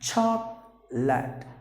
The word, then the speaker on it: chocolate: Please don't do that. So it is lut. Short sound. Chocolate.